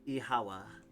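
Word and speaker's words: Oíche mhaith: The Irish for good night. One dialect would pronounce it as Ihawa. Okay, Mihawa.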